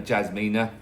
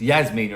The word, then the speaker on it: Jasmina: stuff like Esmeralda and Amily spelled with E and Yasmina spelled with J. So you should be Jasmina. But then I got told off calling her Jasmina. It's Yasmina apparently. Silent J turns into a Y.